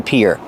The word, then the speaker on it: pier: And the pronunciation is like ear and hear.